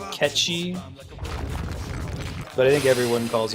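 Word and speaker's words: Cait Sith: I'm theum yeah it's supposed to be catchy but you'll sound like an ass if you say that right so I think you can say Kate Sith and no one's ever going to judge you a lot of Gaelic words are like that the days before voice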